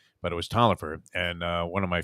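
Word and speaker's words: Taliaferro: spelled and it looked like it should be pronounced tala Fierro but it was Toliver and uh one of my favorite all-time quarterbacks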